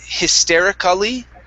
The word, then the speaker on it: hysterically: when we don't uh in this word we do not so instead of saying hysterically okay we skip right over the vowel a okay and we say